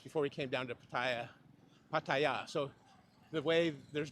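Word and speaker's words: Pattaya: anyway several different ways apparently the correct way the Tai say it is Paya we say it Paya and then others people say it paa whatever so the middle pronunciation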